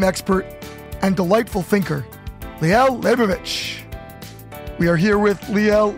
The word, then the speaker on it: Leibovitz: and for all well for the mahadrin it's leibovich uh but here for some reason it's hard to pronounce so i could buy leibowitz nice even yeah kind of smooth it over